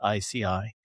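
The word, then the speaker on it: IASEAI: He's professor at Berkeley and he's one of the founders of the International Association for safe and ethical AI pronounced ICI.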